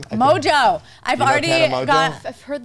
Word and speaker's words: Mongeau: Mongeau.